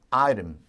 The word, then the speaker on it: item: 아이템인데 역시 T 발음을 부드럽게 사포로 이렇게 사포질. 그죠? 이렇게 사포니는 아닙니다. 그래서 우리가 item.